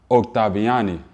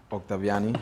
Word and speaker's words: Octaviani: have another interview with none other than octaviani from Life the plant way want you let me get you to introduce yourself my name is octaviani I'm glad you said it right um I